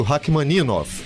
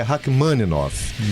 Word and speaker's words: Rachmaninoff: Porque inclusive tem algumas pronúncias, por exemplo, eu vou citar uma aqui, que o pessoal fala muito Rachmaninoff, né? E é Rachmaninoff.